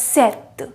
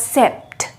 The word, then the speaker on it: sept: is pronounced as seas seven is pronounced as seth it is not pronounced as sept it is pronounced it